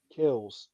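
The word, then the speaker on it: Kells: Kels. Book of Kels. Not the book of Kelts. Sorry. But I'm I've had a couple beers. I'm slurring. But you know, it's the Book of Kels.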